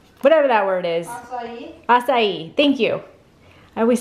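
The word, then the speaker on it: açaí: Acai, thank you.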